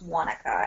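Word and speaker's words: Waneka: what do you say the correct way to pronounce it is Wanaka the name like that comes from German immigrant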